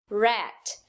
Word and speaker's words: rat: do português também é não fazer o R retroflexo no início de sílaba. Então, traduzindo, uma palavra como hat é completamente diferente de uma palavra como rat.